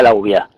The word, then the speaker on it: Lauviah: este Ángel se llama la uvia separándolo en tres sílabas nos queda la la u la uvia es el número 17